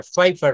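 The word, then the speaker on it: paper: Fitter ফাইপার ফিটা ফিক faecal ফেইপারস। এই পেপার না শেষের র টা কিন্তু বলা যাবে না।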